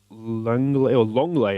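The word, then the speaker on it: Lenglet: Longley apparently is how you pronounce that, according to the Manchester United Sevilla game the other night, the commentary.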